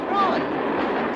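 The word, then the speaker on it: Froy: Roy. Sorry, I can't hear. It rhymes with joy.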